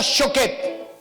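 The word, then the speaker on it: שֹׁקֵד: La vara de almendro en el hebreo se pronuncia shaket. Y la palabra apresuro significa shoket.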